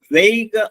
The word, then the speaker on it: vague: Option D നോക്കാം, VAGUE, VAGUE, വെയ്ഗ് എന്നാണ് അതിന്റെ ഉച്ചാരണം.